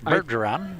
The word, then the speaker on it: Bergeron: And of course, I'm probably not pronouncing that right, but it's Bergeron.